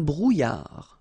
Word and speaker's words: brouillard: Un éclair, une brume, un brouillard. Final D not pronounced.